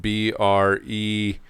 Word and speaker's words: Brezhnev: named Brezhnev, Leonid Brezhnev, Brezhnev is how you say his name, or how you spell his name.